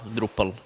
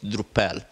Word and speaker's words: Drupal: And later, when he was naming his software, then he back-translated drop into Dutch, so he got Drupal, which phonetically sounded as Drupal.